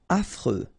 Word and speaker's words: affreux: Affreux. Final X not pronounced. And then you get this fr, freux, affreux.